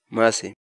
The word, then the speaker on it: masi: de videos en la que te enseñamos a pronunciar algunas palabras en quechua. Así que nuestra palabra del día por hoy es... Mase.